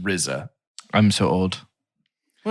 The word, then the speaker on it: RZA: Real quick, it's pronounced RZA. I'm so old. Well, it's Wu-Tang, so I've been around for a minute. Are you sure it's not Rizzo, the rap?